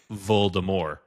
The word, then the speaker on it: Voldemort: up on it, but the way that they say Voldemort is Voldemort. They do not say the T.